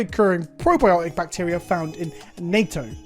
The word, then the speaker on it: natto: probiotic bacteria found in nato or natto again i probably should have looked at pronunciations yes that's natto as in fermented soybeans